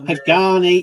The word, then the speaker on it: Pagani: Ian's World of Model says it's pronounced Pagani. It's a Pagani utopia.